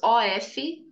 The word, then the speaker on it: of: Quando temos OF, tem sons de V. Lembra da abelha? Ok? Of, of. Quando você tem dois F, que já é outra coisa, que significa desligado, aí você vai ter a pronúncia com F mesmo.